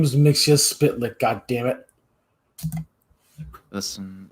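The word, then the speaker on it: Mxyzptlk: minutes of work mixia spit his name is mixia spit goddamn it listen it's hard to pronounce and he can't be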